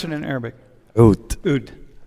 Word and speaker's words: Oud: How do you pronounce it in Arabic? Oud. Oud.